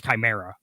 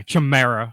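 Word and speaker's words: Chimaera: original one because the original one couldn't even pronounce chimera okay the chimera yeah chamera or something like that is how they were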